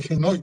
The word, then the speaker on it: Genoy: Pero yo creo que aquí, por ejemplo, se escribe Genoy con J y con G. Está escrito con G, pero dice Genoy con J.